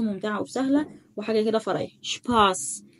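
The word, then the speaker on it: Spaß: شباس، شايف اس ست اهو، فانا نطقتها صوت السين.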